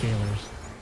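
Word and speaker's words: Gaoler's: I'm gonna let you know it's pronounced jailers. It's like English jailers.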